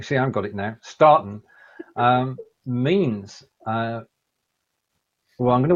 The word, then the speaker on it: starten: Eine Live-Übertragung auf Facebook starten. Right. Sorry, that wasn't English pronouncing. That should be starten.